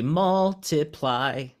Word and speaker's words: multiply: So like, for instance, this multiply, remember in our example before, we said strong, weak, strong for multiply. So it'd be multiply.